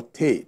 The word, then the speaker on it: Ter: So they have village chiefs, the village head they call Te. Te is spelled T-E-R.